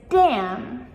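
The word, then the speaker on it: damn: Another one is dam.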